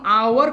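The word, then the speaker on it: hour: আমি যখন আওয়ার কথাটা বলি আওয়ার আসে কি আ, অর্থাৎ আ কি স্বরে আ।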